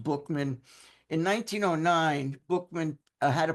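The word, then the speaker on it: Buchman: I know it's pron it's spelled B U C HM- and looks like it's Buckman, but it's actually pronounced Bookman.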